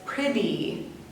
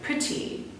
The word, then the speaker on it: pretty: pronounce this word as pretty. Pretty. The T's turn more into a D sound. Pretty. But if you're from the United Kingdom, you would probably pronounce it like pretty.